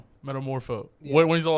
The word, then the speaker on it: Metamorpho: What's what how do you pronounce it? Meta metamorpho metamorpho when he's all like can you make the